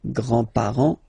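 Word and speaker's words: grands-parents: le grandpar le grandpar you don't pronounce this final s here grandpar okay so l grandfather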